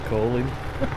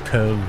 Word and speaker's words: Köln: I always used to pronounce that as Colin. Colin. Not Colon. yeah, because it was like technically, K-O-L-N, you know. Technically it's Köln. Oh, okay. Because the umlaut, you know, it's Köln, yeah, but we just say Cologne.